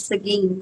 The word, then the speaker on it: Seguin: I would pronounce it Seguin. Uh Eric said I was right. It's Seguin Texas.